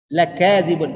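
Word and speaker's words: لَكَاذِبُونَ: Lakadzibun, lanya pendek bacanya Pak Haji. Jangan lanya panjang. Kalau lakadzibun, kacau. Kalau lanya baca dibaca panjang berarti artinya tidak.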